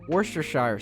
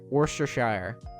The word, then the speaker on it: Worcestershire: Shire is not actually pronounced in England that way. Well, fair. Worcestershire. Worcestershire.